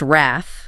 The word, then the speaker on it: wrath: emotion, we have wrath, pronounced wrath. Wrath. And we need to emphasize that short a sound, right? Like the a in cat, not a longer a sound that you sometimes hear in error.